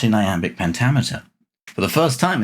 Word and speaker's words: iamb: So the difference being the iamb has the stress on the second syllable, the trochee has the stress on the first syllable.